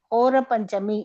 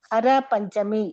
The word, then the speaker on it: கோர பஞ்சமி: குண்டிசாவிற்கு வர முடிவு செய்தாள் லட்சுமிதேவி குண்டிசாவிற்கு வருவது கோர பஞ்சமி என்று கொண்டாடப்படுகிறது சில நேரங்களில் இது ஹர பஞ்சமி என்று அதாவது அதவாடி மக்கள் ளுக்கு தற்ச தவறாக உச்சரிக்கப்படுகிறது கோரா என்ற சொல் பார்ப்பதற்கு என்று பொருள்